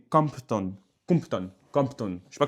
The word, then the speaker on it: Compton: Pas Crampton mais Compton.